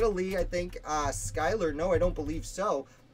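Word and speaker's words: Schuyler: all work but many of them will uh Skyler was absolutely New York and if I accidentally said Schuler before it's cuz I pronounced it like that for like I I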